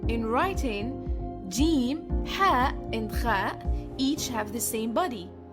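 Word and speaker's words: خاء: The next letters are Jim, Ha, and Kha. Jim corresponds to the English J. Ha corresponds to the English H, but it's much more throaty. Kha corresponds to the combination KH. In writing, Jim, Ha, and Kha each have the same body, as follows.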